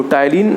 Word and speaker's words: ptyalin: यहाँ पे P silent है।